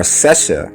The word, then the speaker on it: Sesha: And the word Sasha or Sesha in Hinduism is also pronounced Sasha, so it's pronounced the same way and it's spelled the same way.